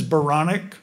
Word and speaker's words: Baranek: does bio you know my last name is veronik and it rhymes with Bionic and when I when